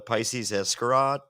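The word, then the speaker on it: Pisces Iscariot: I came home and I listened to Pisces Escarot. That's how you pronounce it.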